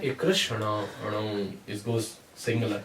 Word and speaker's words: Krishna: If you call Krishna, the proper pronunciation is Krishna.